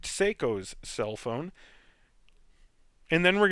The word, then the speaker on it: Seiko: orb here which is psychos or psychos let me pronounce that right seiko's cell phone and then